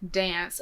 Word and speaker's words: DNCE: And I hope that whoever I marry does not hate me for that, but I want to dance to that song.